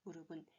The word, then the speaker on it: 무릎: 무릎은 피읍 받침이었죠. 피읍이니까 피읍 받침은 뭘로 소리 난다? 네, 맞습니다. 비읍으로 소리 난다. 무릎 이렇게 발음을 해주셔야 맞습니다.